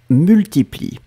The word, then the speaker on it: multiplient: Donc, troisième personne du pluriel, se multiplie, d'accord, I-E-N-T, on ne prononce pas le E-N-T comme d'habitude, se multiplie, d'accord.